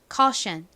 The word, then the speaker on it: caution: 가장 앞에는 어떤 알파벳이 오나요? 키읔 소리 나는 C가 옵니다. 그 다음 이중모음 AU가 와요. AU는 영국식으로는 O에 가까운 소리가 나는데 미국식으로는 어와 가깝게 발음이 됩니다. 그래서 CAU는 car 이렇게 소리가 나고요. 다음 션, 덩어리 소리 뭔가요? T, I, O, N이죠. 자, 발음해 볼까요? caution, caution. 좋습니다.